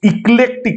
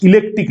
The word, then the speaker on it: eclectic: ইক্লেকটিক approach, ইলেকট্রিক নয়, এটা অনেকে প্রথমে উচ্চারণ করে ইলেকট্রিক, এটা ইক্লেকটিক অ্যাপ্রোচ অ্যালাউজ দ্য ল্যাঙ্গুয়েজ